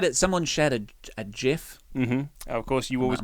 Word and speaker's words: GIF: There was quite a Someone shared a a GIF. Mhm. Of course, you always go with You go with GIF, not the hard G.